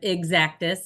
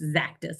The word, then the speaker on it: Xactus: with a z zus we hear a lot of exactus and for those of us here we reinforce zactis a lot so um we'll know you're in the know if you know how to say it uh zachus was um